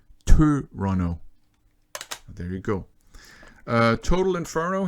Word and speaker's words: Tøronto: And really, you know, if we're going to be a stickler, they have this letter in it that means it's actually pronounced Tøronto.